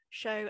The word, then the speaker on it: Sio: Show, S-I-O for show, underscore and underscore tell, because that's how that's my way of letting people know how to pronounce show.